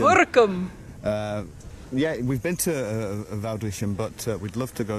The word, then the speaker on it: Woudrichem: So called Woudrichem by the locals. Woerkum. Woerkum. Woerkum is in Friesland. Sorry. Woerkum is over here.